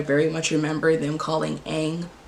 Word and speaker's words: Aang: Like some of these I kind of blocked out, but I very much remember them calling Aang Ong.